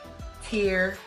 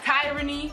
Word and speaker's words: Tierney: My name is Tierney, pronounced Tierney. Tierney. Okay? Not tyranny.